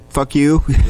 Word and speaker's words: Fuque: There was a band called Fuque, spelled like fuck you. Excuse me, is this a podcast? Can I say that? Okay. And, but it was Q-U-E, so fuck you, Q-U-E.